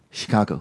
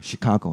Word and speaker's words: Chicago: of anything in this case um updated the Chicago yep and she was saying she can't I